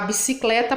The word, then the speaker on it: bicicleta: Então, a sílaba forte da palavrinha bicicleta é o clé, tá bom?